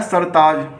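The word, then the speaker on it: سرتاج: इसी तरह से आपका अगला लफ्ज़ आता है सरताज, ये काफ़ी आसान है।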